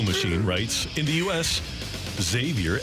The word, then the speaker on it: Xavier: to this texture my son's name is Xavier z- a v i e r and that's how we pronounce it Xavier you wouldn't be able to tell me how